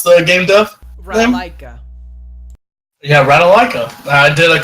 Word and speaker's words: Ratalaika: And so I actually did 2 games by Ratalka, or how do you ever pronounce the game dev? Ratalaika.